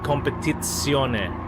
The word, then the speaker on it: competizione: When you pronounce it in Italian, you say competizione, and with the emphasis on the tits.